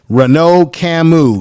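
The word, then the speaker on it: Renaud Camus: don't go away and let's get the right pronunciation of this right now and uh let's hear this renault camus this is camus renault camus renault camus is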